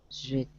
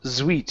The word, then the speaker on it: sweet: Sweet. Okay, you're saying sweet. It's going to be an unvoiced S. So it's like C. Okay, so it's sweet.